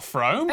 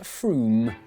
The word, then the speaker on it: Frome: Wrong, it's not Frome. Frome, it should be blitheringly obvious, is pronounced Froome.